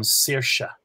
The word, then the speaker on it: Saoirse: And the name Saoirse starts with a broad S, S-A at the start, and finishes with a slender S, S-E. So that's the normal rules of broad and slender S.